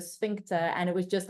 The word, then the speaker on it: sphincter: awkward for people my my lecturer would say spinter and everyone would giggle in the back of the class because she would pronounce swinter instead of sphincter and it was just